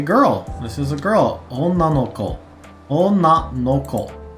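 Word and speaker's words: 女の子: Onna no ko. Onna no ko. So this is being pronounced onna in this case, no ko.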